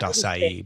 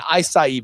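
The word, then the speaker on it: açaí: I believe it's pronounced acai, but yeah, acai berries.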